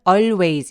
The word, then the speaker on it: always: she always W 그리고 always 발음할 때는 always 이렇게 L 발음 일부러 내려고 하지 마시고요 하고 하고 같이 했을 때 특히 L 리을 받침 음절이 소리가 끝나는 때 엘이 있을 경우에는 L 발음을 잘 안 합니다 그래서 always라고 애를 그냥 무시하고 발음하시면 정확한 발음이 되세요 자 그다음 one day